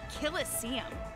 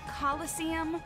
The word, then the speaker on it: coliseum: it right there's no such thing as a killest seam what it's pronounced coliseum which is an amphitheater made in ancient rome